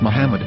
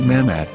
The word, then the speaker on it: Muhammad: after the H according to Ben yehuda's Hebrew English dictionary it is correctly pronounced as Muhammad not mammad so how we're going